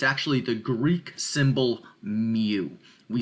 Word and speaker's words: mu: U here, but it's actually the Greek symbol mu. We spell that M-U, okay?